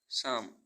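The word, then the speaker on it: psalm: सोलम सोलम means गंभीर ऐसे birds जिनमें पी साइलेंट रहता है पी एस वाई सी एच ओ एल ओ जी वाई साइकोलॉजी साइकोलॉजी मींस मनोविज्ञान पी एस ए एल एम सम सम मीस भजन आर ई सीई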